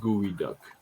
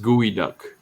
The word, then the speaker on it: geoduck: large one yeah okay it's pronounced it's pronounced gooey duck it's a gooey duck oh yeah jesus what